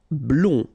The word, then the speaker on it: blond: Blond. Final D not pronounced.